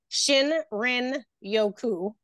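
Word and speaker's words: shinrin-yoku: as you like go into nature the oil pronouncing it I couldn't say it at first I made a funky name but it's Shin Rin Yoku it means the forest bathing it comes from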